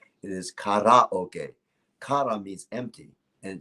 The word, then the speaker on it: karaoke: this won't change anything in America they say karaoke yep that's the incorrect pronunciation it is kadhai okay Konami is empty and Spacey says empty